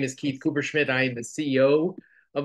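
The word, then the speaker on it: Kupferschmid: name correctly for me Cooper schmith it's very intimidating but just don't pronounce the F it makes it a lot easier Cooper Schmid so Keith um I'm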